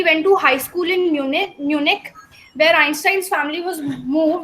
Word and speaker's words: Munich: It is Munich, right? अगर नहीं समझ में आ रहा है तो दोबारा बोल लो मेरे साथ. It is Munich. Mu and Nick.